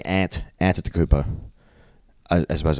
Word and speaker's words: Antetokounmpo: It's pronounced Yiannis. And his last name is um Antetokounmpo.